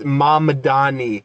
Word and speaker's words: Mamdani: Mandani he always says Mandani bro has no ability to pronounce any words like any names that aren't fucking Italian. It's Madani.